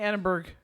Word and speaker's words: Edinburgh: She's saying Edinburgh. EDIN. That way, but it's pronounced Edinburgh. Whatever. Edinburgh. But there's a BUR. It's not BRU.